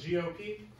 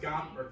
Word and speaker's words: GOP: it's a term and it's not pronounced gomp you guys can just